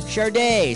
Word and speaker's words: Sade: Her name is spelled S-A-D-E. How the heck do you pronounce that? Sade, Sadie, Sad, or Sod? Go for it! It's pronounced Sade.